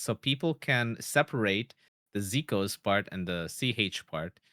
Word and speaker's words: Zekoz: the pron pronunciation, I I have heard people say like Zeos even and I'm like sure, but but I think in general it's pronounced as Zikos.